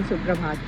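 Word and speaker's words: सुप्रभात: Or else you can say Suprabhat. Suprabhat. Oh, namaste. Yeah. Suprabhat. Suprabhat. Yeah. Okay. Have I pronounced it well?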